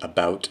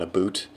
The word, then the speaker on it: about: debunking Miss about Canadians I pronounce it about not AB boot which is true I have never known a Canadian to say a boot um yeah this is